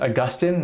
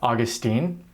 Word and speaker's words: Augustine: That's right, his name is pronounced Augustine, not Augustine.